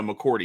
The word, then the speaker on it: McCourty: McCartney, I'm not sure if I can pronounce their names correctly. McCartney brothers. Devin McCourty. No, McCourty.